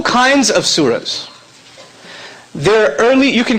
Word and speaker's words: surah: There are 2 kinds of, I'm not going to say chapters, I'm going to get you guys used to another term, it's surah. Surah, okay, S-U-R-A, if you're going to spell it out, S-U-R-A-H.